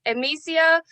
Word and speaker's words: Emecia: It is pronounced Emecia.